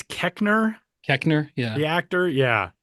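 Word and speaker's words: Koechner: David Ketchner. Oh yeah. I think it's Keckner.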